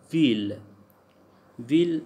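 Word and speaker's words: ville: Except in the word will means city, so will pronounce like full, like ill we pronounce as l, so this is exceptional case, rest of them they are y sound.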